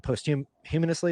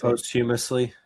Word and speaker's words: posthumously: this notion that um should someone be given post humanously is that how you say it? How do you say posthumously posthumously uh meaning they had passed away